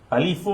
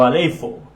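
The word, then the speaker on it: ἀλείφω: que se llama, o se puede pronunciar de las dos formas, alifo o aleifo, que significa ungir, untar o frotar con aceite.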